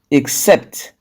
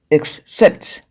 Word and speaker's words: except: then for rule two two syllabic verbs and prepositions are usually stressed on the second syllable when you say two